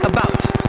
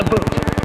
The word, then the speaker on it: about: French not American and I pronounce it about not a boot I can proudly seow